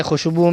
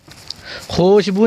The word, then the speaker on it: خوشبو: کا استعمال سنت ہے۔ خوشبو میں خوشبو نہیں پڑھ رہے ہم، واو کو کھینچ